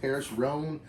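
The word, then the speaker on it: Paris Rhône: what all is included I believe the brand is pronounced Paris Rhone so yeah I'll get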